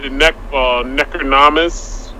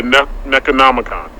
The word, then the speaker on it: Necronomicon: So the Necronomus, am I saying it right? The Book of the Dead, or Bringing the Dead Back? Yeah, Necronomicon.